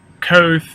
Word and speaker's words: Kvothe: But anyways, it's about a kid who is a magically gifted guy, who his name is um, Koth, or it's pronounced a bunch of different ways. It's Kvothe.